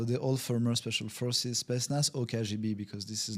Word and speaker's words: Spetsnaz: you train with the Russian, I get the pronunciation right, Spetsnaz. Spetsnaz, yeah.